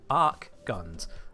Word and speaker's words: Archgun: Archguns. The H is silent.